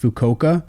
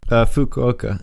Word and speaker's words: Fukuoka: Is it pronounced Fukoka? Fukuoka. Yeah.